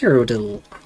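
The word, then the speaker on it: Cyrodiil: And on we go into the wider world of Cerodil. Cirodil. There are two eyes, but it's pronounced Codil.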